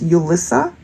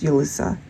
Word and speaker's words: Julissa: I'm picking up off of Julissa, but I'm also getting it like it could be pronounced Ulissa. So J-U-L-I-S-S-A perhaps. And in certain scenarios, it could be pronounced Ulissa.